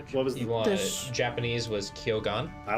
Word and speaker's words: Kyogan: Uh, Japanese is kyogan.